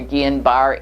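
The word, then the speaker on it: Guillain-Barré: what that is gillian there they pronounce it gillian or gehan bar it's a disease and it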